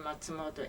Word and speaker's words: Matsumoto: well, first of all, would you spell and pronounce your full name for us, please? Okay. J-U-N-K-O, and last name Matsumoto, M-A-T-S-U-M-O-T-O.